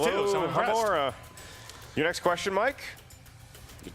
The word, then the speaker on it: Alohomora: That was the one he kind of mispronounced, too. So Alohomora.